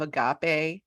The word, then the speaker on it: Agape: Let me just say, she's the CEO of Agape. Am I saying that right? Yes. Thank you. Agape Match. Hard, soft G.